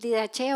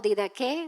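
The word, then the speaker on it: Didache: O sea, el didaché que el didaché o didqué, según lo quieran pronunciar.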